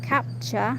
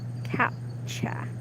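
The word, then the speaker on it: CAPTCHA: advice advisor advisor with the idea of a capture that is the distorted character that people have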